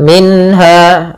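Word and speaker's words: منها: Kemudian pelafal minha ada bacaan izhar halqi yaitu suara nunnya dibaca dengan jelas. Minha minha tidak boleh minha langsung saja.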